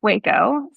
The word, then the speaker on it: WEHCO: Tell us about pronounced it's pronounced Waco. So Walter Edward Husman is my dad. So, Walter Edward Husman company.